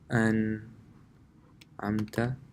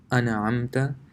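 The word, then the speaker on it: أَنْعَمْتَ: If you read really fast, you may mistakenly say an'amta. It's actually pronounced an'amta. This is pronounced an'amta. And if you replace this sukun with, let's say, a fatha, then it becomes an'amta, and this is wrong.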